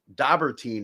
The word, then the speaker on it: Dobberteen: veteran uh uh and musician now dobber teen is that correct pronunciation in your last name yeah perfect awesome